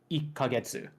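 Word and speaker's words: 一ヶ月: interval of one month you would say ik kagetsu and it's a different reading and typically the numbers 1 through 10 are the ones that change the most often and depending on what counter you're pairing with what number the reading will change completely so it can be very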